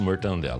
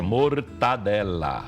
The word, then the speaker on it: mortadela: O certo é gente. mortadela. Não tem N aqui não, gente.